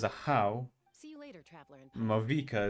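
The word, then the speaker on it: Ajaw: Ajao is a how.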